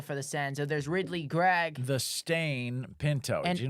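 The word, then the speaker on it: Greig: Greg, but it's spelled the same way as Edvar Grig.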